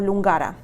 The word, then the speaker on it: Lungara: Al parecer le decían la astróloga de la Lungara, o Lungara, como se pronuncia correctamente.